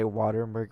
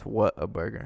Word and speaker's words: Whataburger: The way it's spelled, people say Waterburger, but it's what a burger.